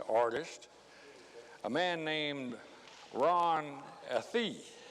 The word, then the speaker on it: Athey: a man named ron athief it's spelled a t h e y but he insisted it be pronounced like a hyphen t h double e ron a thief and